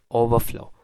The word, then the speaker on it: overflow: कर सकते हैं कि हमें इसे इस तरह प्रोनाउंस करना है, ओवरफ्लो, ओवरफ्लो, ओवरफ्लो।